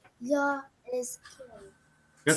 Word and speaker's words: YHWH: Right, but Ezekiel believes that YHWH is pronounced Yah. Of course. Not Yahweh or not Yahweh, but Yah.